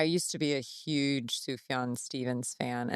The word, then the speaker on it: Sufjan: Okay, But well, but Sam invited a bunch of them to his studio in the Catskills, and Sufjan, is it Sufjan Stevens? Sufjan.